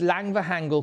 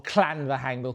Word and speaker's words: Llanfihangel: But the transcription that I have here says, this mansion house called Llanfihangel Court, or Llanfihangel Court, a double L in Welsh, it's pronounced Cla, situation within 3 miles